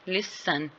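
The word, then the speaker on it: listen: जो है वो आ रहा है लिसन में, लिसन, ठीक है, टी ई जो है वो साइलेंट है, और इसके साथ लिसन एन के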